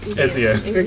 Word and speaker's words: Ezio: Is that how you pronounce it? Yeah. Ezio? Ezio.